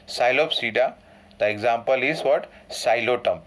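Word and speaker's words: Psilotum: Xylotum. P is silent over here.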